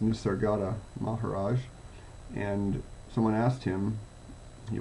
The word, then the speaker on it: Nisargadatta Maharaj: And I'm reminded of an old saying, an old question of, I believe his name's pronounced Nisargadatta Maharaj, and someone asked him, he was often known